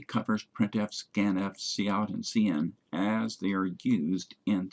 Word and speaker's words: cin: Scanf, printf, cin, cout. If you pronounce cin as sin, people might think you're trying to lead a church congregation instead of writing a C++ program.